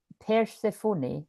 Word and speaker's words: Persephone: Persephone, pronounced Persephone.